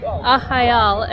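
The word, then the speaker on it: Arraial do Cabo: and by the way ahal is actually spelt a-r-r-a-i-a-l-docabo but the r's here are pronounced as h's so it's pronounced aha so yeah as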